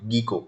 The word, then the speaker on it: Gecko: Okay, how to pronounce geeko? G-E-C-K-O, geeko. It's not geeko or geeko, it's geeko driver.